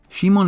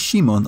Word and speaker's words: Shimon: Also, is it Shimon or Simon in the dub? I know Shimon is just the Japanese pronunciation, but that's what they go with in this. But the 5 seconds I played of Forbidden Memories years ago had him as Simon.